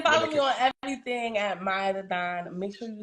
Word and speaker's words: Maiya: like they can follow me on everything at Maya Theon make sure you spell it right it's m a i y a